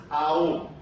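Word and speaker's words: ॐ: And then the top one we actually break into 3 syllables. Even though it's om again, it's aum. And the reason that we have the aum is we're getting 3 syllables there that represent creation, sustenance, and destruction that leads back to creation.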